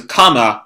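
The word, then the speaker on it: カーマ: The furigana given reading was that thing, pronounced as kama. This is often phonetically used to say karma.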